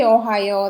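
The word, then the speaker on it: おはよう: You can just say ohayo, that's okay. It sounds like Ohio. You've probably heard this, but so ohayo, you can remember that, right? So ohayo, that's informal.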